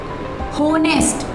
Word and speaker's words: honest: In this word honest, H is silent. We don't pronounce is honest.